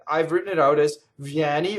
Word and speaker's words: vieni: So vieni, open E, vieni. Notice that the first I vowel is a semivowel, right?